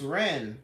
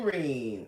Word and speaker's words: Reem: I was in your live earlier, and you were calling me Coach Ren. And I'm like, who the hell is that? That ain't me. You guys say my name right. It's Coach Mean Reem.